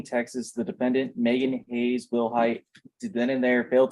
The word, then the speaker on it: Wilhight: Am I pronouncing your last name correctly? Yes, ma'am. Will height?